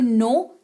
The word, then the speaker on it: know: नो, KNOW, नो, इसको कनो लिखते हैं लेकिन पढ़ते हैं नो, जिसका मतलब होता है जानना।